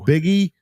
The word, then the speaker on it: Buege: Jeff Buege, pronounced Biggie.